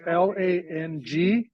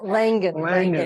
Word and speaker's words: Langan: Last name is Langan. Oh, Langan. Langan, Yeah. thank you. So Langan. Yeah, Langan. like I pronounced. No D. It's okay. There's no silent D. There's no D.